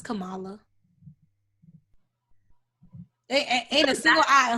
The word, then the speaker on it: Kamala: it we are telling you it is highly pronounced kamala okay anyway kamilah that she's the first woman